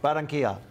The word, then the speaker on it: Barranquilla: I make sure I know how to pronounce Tijuana and Colombia. It's tough. Barranquilla.